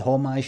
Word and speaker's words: homage: Pastiche and homage and pastiche. I think the H is silent.